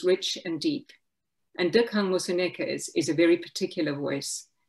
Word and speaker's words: Moseneke: upwards, but in fact, for African languages, you need to go down. The rising cadence of so many English speakers took a long time, but I got it finally, is wrong in the pronunciation of many African names, such as Moseneke.